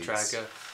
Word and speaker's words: Drago: Ivan Drago.